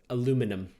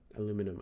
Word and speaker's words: aluminum: it's a luxury food that's how I pronounce it aluminum aluminum I don't do a lumen he was something really